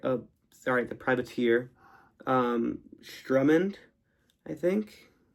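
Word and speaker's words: Sturmhond: sorry the privateeer um Strummond I think. S T R U M M A N D. So I pronounced that as Strumand.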